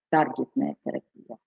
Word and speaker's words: таргетная: Сегодня посмотрела ударение вот именно на первом слоге «таргетная терапия».